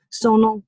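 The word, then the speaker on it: Sonal: in my email signature sono like hormonal it rhymes with an english word that you are very capable of saying and now i understand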